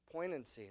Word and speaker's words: poignancy: knock here's your blank uh I think it's poignancy p o i g n a NC y did I pronounce that right Miss Julia pocy there you go there that's right from from